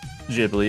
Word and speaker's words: Ghibli: Speaking of cult classics, today we're going to review a movie from Studio Ghibli, or Ghibli, however you wish you pronounce it, directed by the famous Hayao Miyazaki, and the movie is Nausicaä Valley of the Wind.